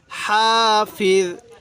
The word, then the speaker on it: হাফিজ: তাহলে ইং কুল্লু নাফসিল্লাম্মা আলাইহা হাফিজ, হাফিজ, এই জটা নরম করে উচ্চারণ করব।